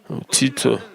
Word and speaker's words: Titus: Jésus, Jérusalem a été conquise par le général Titus de l'Empire romain. Son nom se prononce de différentes manières, mais ce sont les mêmes. Et il s'appelle aussi Tite.